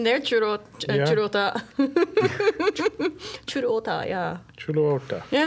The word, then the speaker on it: Chuluota: So last thing before we close out this episode, back in our pronunciation thing, here southeast of Oviedo is Chuluota. Chuluota. Churota, yeah.